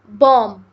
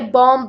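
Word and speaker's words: bomb: biscuit बोला जाता है बम बम में बी जो है वो एक साइलेंट लेटर है हम इसे बॉम करके नहीं बोलते हम इसे बम बोलते हैं साइंस साइंस एक सब्जेक्ट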